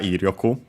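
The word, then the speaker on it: 威力: Also accent on the first Mora, Iryoku.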